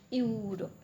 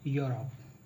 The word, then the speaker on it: Europe: So it becomes Europe. Europe, right? But it's not correct. Actually, বাংলাতে এমন কোনো অক্ষর নাই যেটা দিয়ে আমরা এই সঠিক উচ্চারণটা লিখতে পারি, তো যার জন্য এরকম লেখা হয়। The correct pronunciation should be Europe.